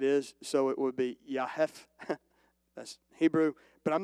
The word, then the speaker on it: Japheth: you and educate you it's actually pronounced in hebrew with a y amen if you understand it is so it would be yahef that's hebrew but i'm